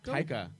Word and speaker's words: Taika: as well as His name is Tycho? Taika.